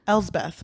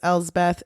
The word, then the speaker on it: Elspeth: I don't know how to pronounce it. Elspeth, but they call her Bessie, right?